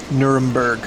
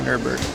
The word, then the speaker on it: Nuremberg: Nermberg, not Nurburgg.